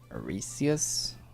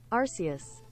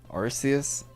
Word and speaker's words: Arceus: how do you say that new new one auresius what's that how do you pronounce the new one arceus all right thank you google arceus so damn you've been playing some soul silver